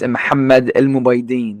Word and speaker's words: Mohamed: even better yeah sure so my full name is mamed that's how you say my that's how you say my full name in Arabic oh nice yeah we